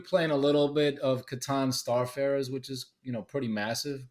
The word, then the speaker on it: Catan: I'm glad to hear you say Yeah, Catan because yeah. I mean, that's the right pronunciation.